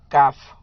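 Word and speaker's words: calf: काफ। क्या बोलेंगे? काफो, यहाँ एल साइलेंट है तो काफ।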